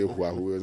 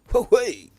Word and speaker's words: Huawei: The pronunciation of Huawei, sometimes if you're not careful, you go and say Huawei and it becomes a problem.